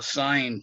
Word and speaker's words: sine: But sine is the way you spell it, but we use the abbreviated SIN, and that's the sine, that's read the sine of theta, the angle theta.